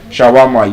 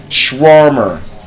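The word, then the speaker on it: shawarma: you want to buy shawama you tell the bruss I want to buy schwammer yes because that's the correct pronunciation it's not shawama schwarmer you say br I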